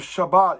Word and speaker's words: Shabbat: Bet, Tav, it's actually, that means you emphasize the Bet. So instead of Shabbat, it's Shabbat. Or instead of Shabbat, it's Shabbat, and you enunciate the Bet.